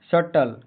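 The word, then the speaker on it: subtle: एस यू बी टी एल ई सटल का हिंदी शब्द सटल का हिंदी उच्चारण सटल होता है। इसमें बी साइलेंट मौन रहता है।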